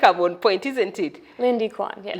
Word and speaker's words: Lindy Quann: who who your name is cuz I know Linda Quan but maybe the pronunciation or something but I think I'm on point isn't it Lindy Quan yeah Lindy Quan I like the Quan s like you know